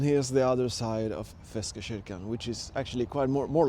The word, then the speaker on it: Feskekörkan: And actually, the correct way to say it in Swedish is Feskekörkan, but Gothenburgians have a certain way to pronounce certain words. So we call it Feskekörkan.